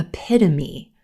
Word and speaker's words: epitome: word a epitome epitome a lot of times a native speaker will put the stress in the wrong place in this word so they might say epitome epitome or epitome epitome but our stress is on the second syllable silver pen epitome epitome